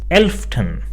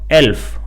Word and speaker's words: elften: Another side note over here, that this 11 followed by the dot means 11th, and it is pronounced as elften and not elf, which just means 11.